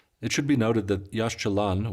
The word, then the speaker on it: Yaxchilan: of the site of Yash Chalan it should be noted that Yash Chalan which means the green stones is a modern name